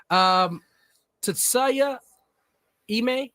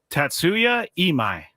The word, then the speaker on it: Tatsuya Imai: Tetsuya Ime, is that how you say it?